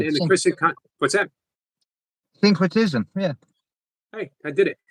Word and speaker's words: syncretism: That's usually just break it down, usually 3 key syllables, and then it kind of flows. It's not synchronicity, but it sounds the same. Syncretism.